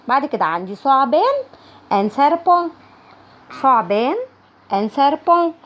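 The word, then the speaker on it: serpent: بعد كده عندي ثعبان ان سيربون. ثعبان ان سيربون. هنا التي مش بتتنطق. سيربون SERBENT SERBENT.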